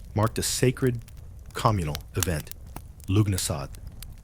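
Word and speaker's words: Lughnasadh: Lugnasad, pronounced Lunasa, a Celtic festival honoring Lu, god of light, craftsmanship, war.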